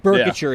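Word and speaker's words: Boerkircher: Burkitcher is how you say his last name.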